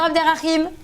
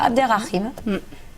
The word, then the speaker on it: Abderrahim: Bonjour Abderrahim.